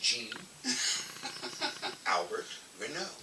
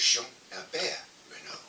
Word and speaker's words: Jean Albert Renaud: And uh but in English, my name is pronounced Jean Albert Renaud. Uh-huh. In French, it's Jean Albert Renaud.